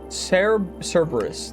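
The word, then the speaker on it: Cerberus: And we also have to hit the main bosses of Kifies, which is uh, S Cereabus, Cerebrris, Cberus. That's how it's pronounced.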